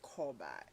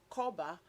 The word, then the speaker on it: Korba: And everyone can use Koba.